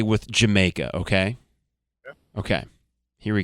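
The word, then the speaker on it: D'yer Mak'er: Did you make her? Jamaica. That's the joke. Very British, I suppose. Now the title is often mispronounced by FM disc jockeyies if that still exists as Dia Maker. Uh it is not necessarily that though even I fall into that trap myself sometimes.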